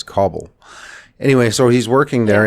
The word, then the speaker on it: Kabul: work in in kabul i always want to pronounce it kabul but i understand from somebody from afghanistan that is kabul anyway so he's working